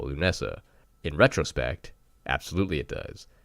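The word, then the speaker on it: Lughnasadh: is look up the pronunciation key and is pronounced loo Nessa which is on August 1st it is spelled let me just clarify this l ugh na s ADH yes that does spell loo Nessa in retrospect absolutely it does my modern English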